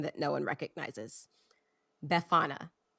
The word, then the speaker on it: Befana: Befana. I think I'm pronouncing that right. It's a it's Befana. Befania, maybe. It's Italian. Have either of you heard of this person? No. Good. So, there's a pronunciation guide, but I don't know how to read the Bethany. I don't know how to read the phonetic alphabet. So I'm going to call her Befana.